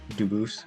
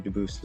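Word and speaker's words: Dubois: I am Duboose. Um, Dubis is the English pronunciation. Duboose is the original French.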